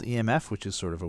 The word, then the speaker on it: EMF: called the m f pronounced exactly as it sounds e m f it's not pronounced emph you would think it